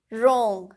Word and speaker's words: wrong: So in these words W is a silent alphabet.